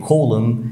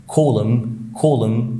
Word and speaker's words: column: عندنا كمان الام مع الان، دايما برضو الان ما بتتنطقش، في كلمات زي column يعني عمود، column.